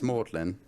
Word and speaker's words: Magdalen: yeah madeline yeah it's mordling so even though it looks like mary magdalene it's pronounced nothing like that it's just mortality yeah